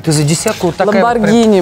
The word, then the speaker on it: Lamborghini: У тебя Ламборджини, ёптвою, ты за десятку вот такая... Ламборгини, мальчик мой, пожалуйста, не позор. Мы в Петербурге говорим Ламборджини.